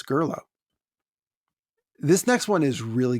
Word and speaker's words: Gurloes: a youtube pronunciation of gurloes or gurlos i i've always pronounced it like socrates most english speakers i suspect pronounce it gurlos well marcus points out it's not greek it's french and then he offered